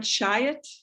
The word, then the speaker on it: Chiat: Chiat?